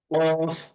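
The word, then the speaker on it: ك: অর্থাৎ পা ফা তারপরে আসি অন্যতম একটা পরিচিত হরফ কফ কফ এর উচ্চারণটা হবে মোটা এবং গলার মাঝখান থেকে কফ কফ তারপরের হরফের নাম হচ্ছে কাফ কাফ কাফ পাতলা কাফ তারপর হরফ হচ্ছে লাম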